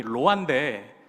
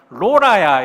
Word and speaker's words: 로아: 이제 처가 친척 어른들이 이 로아 발음을 잘 못하셔가지고 노아 이렇게 발음하셨던 게 이제 기억에 났는데, 아니요, 로아예요. 그랬더니 뭐라고 발음하셨냐면 로라야 이렇게 발음하셔가지고 그것도 아닌데요 이렇게 저희가 이름을 왜